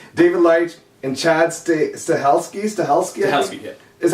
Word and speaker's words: Chad Stahelski: David Leitch, and Chad Stahelski, Yeah.